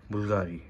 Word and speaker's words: Bvlgari: it is a matte black bottle which says bulgari men in black and uh you know this perfume this it is written as fulgari but it's pronounced as bulgari so yeah so you this house is very